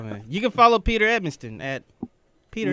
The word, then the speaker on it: Edmiston: You can follow Peter Edmiston at Peter Edmiston. You can follow Anthony Sane. Don't throw an extra N in there. It's Edmiston, not Edmonston.